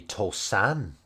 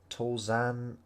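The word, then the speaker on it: 登山: It might even be Tosan. No, it's not Tosan, apparently. Tozan.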